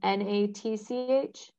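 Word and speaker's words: Nacht: it's jeff and then the last name is n-a-t-c-h it's spell it's pronounced natch it's spelled n-a-c-h-t n-a-c-h-t and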